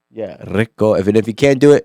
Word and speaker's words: Rico: Rico. With the roll of the tongue. Yeah, Rico.